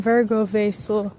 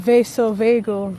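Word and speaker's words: vasovagal: So, for years on end, I've been saying Virgo Vasil instead of vaso vagel, that's actually what it's called.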